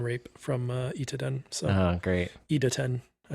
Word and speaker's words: Idaten: Idaten.